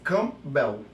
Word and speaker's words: Campbell: do seu nome é Campbell é na verdade assim é meu nome completo é é o p por ele ser mudo então você não pronuncia Então faz cambel entendeu Como se você